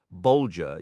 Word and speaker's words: Bolger: For instance, Bolger uses a G as in the word bulge, and Matham rhymes with fathom.